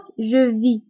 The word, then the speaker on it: vis: alors بالنسبة ل je vis كتكون مكتوبة ب ES ولكن S ما كنطقوهاش، كنقولوا فقط je vis.